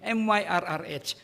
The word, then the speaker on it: myrrh: Now, Smyrna means myrrh, M-Y-R-R-H, myrrh. How do you pronounce that?